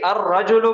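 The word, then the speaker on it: الرجل: इन दोनों में फर्क यह है कि अर्रजुलु पढ़ने में यहाँ पे लाम ड्रॉप हो रहा है, लाम की आवाज नहीं हो रही, लाम को साइलेंट किया जा रहा है।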